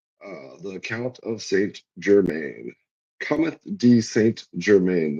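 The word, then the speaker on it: Comte de Saint-Germain: Cometh de Saint Germain. That is the French pronunciation.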